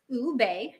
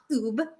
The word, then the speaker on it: ube: Ube, pronounced ube, not ube, is a purple yam native to the Philippines, and it's been a beloved ingredient in Filipino desserts for generations.